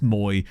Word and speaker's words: Mwa: I like the fact that there was a guy that played for Andor yesterday and his name was Mwa. I'm sure it's pronounced Moy, but I just saw it